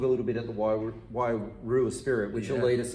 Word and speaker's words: Wairua: Probably didn't roll. I need to roll my tongue a bit. Wairua Spirit.